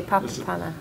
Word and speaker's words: Papapana: on the third syllable and do they always pronounce all three of those paths because it seems yeah they do papa panna papa pam and then mistress the third panda